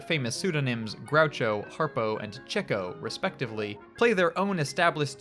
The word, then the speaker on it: Chico: And yes, unfortunately, the stage name of Leonard Marx is meant to be pronounced Chico, despite how it's spelled. It's a reference to his perennial pursuit of women, or chicks.